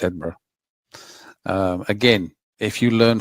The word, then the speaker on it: Edinburgh: Worsh they want to say the shingberg and you go like no, it's Edinburgh.